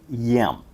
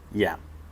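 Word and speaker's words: Yeam: Now, his code name was Yam. And I'm probably not pronouncing that correctly, but how it is usually spelt is Y-E-A-M. Yam.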